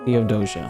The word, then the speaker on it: Theodosia: Oh, I can't pronounce that name. Theodosia? Theodosia? Dear Theodosia, what to say Doja. to I was close. Theodosia.